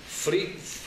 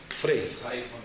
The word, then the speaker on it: frei: mercado alemán todo es free, ¿cómo se dice? Free von PFOA. Frei. Nunca lo sabía decir.